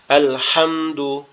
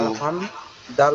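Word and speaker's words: الحمدُ: আলহাম, দাল পেশ দু, আলহামদু। এটা কি ডাইরেক্ট কোনো টান টান হবে না? আলহামদু এভাবে কোনো পড়তে হবে টান নাকি? হবে না, সিম্পলি উচ্চারণ হবে, শুধুমাত্র সিম্পল।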